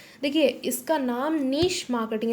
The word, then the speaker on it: niche: देखिए, इसका नाम नीश मार्केटिंग, इसको हम प्रोनाउंस करते हैं नीश marketing. We don't pronounce it एज नीच मार्केटिंग।